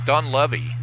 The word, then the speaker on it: Dunleavy: And she told me it's pronounced Dunleavy.